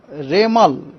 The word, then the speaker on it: Remal: बाद उनको नाम होगा रेमल रेमल प्रोसन होगा रेमल उसका स्पेलिंग है आर ई एम ए एल रेमल यह नाम एक्चुअली वमन